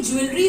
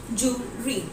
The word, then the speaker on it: jewelry: अब ये ज्वेलरी जो है ये बिल्कुल गलत उच्चारण है. इसका जो सही उच्चारण होगा वो क्या होगा? jewelry. The correct pronunciation will be jewelry.